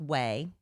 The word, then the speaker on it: Quay: Well, there I've learned it's pronounced way, which makes no sense cuz it's Q U A Y.